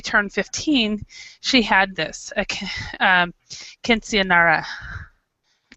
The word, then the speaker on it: quinceañera: And the last part, you have to put a lot of the it's because in English you don't have the ñ.